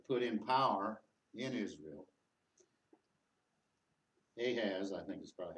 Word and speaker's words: Ahaz: But he says that although Ahaz, how do you pronounce it? Ahaz.